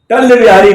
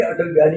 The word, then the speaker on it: अटल बिहारी: तो पंजाबी प्रोनाउंसिएशन के कारण वो कह रहा था टल्ल बिहारी 5 रुपए में, टल्ल बिहारी 5 रुपए में, टल्ल बिहारी 5 रुपए में, यानी अटल बिहारी जी की फोटो थी, खबर थी।